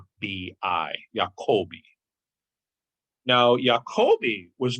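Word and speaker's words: Jacobi: underestimated philosopher friedrich jacoby jacoby is spelled j-a-c-o-b-i yakobi now jacoby was not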